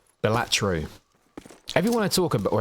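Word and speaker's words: Balatro: Oh, Bellatro. I thought it was Ballataro. Bellatro.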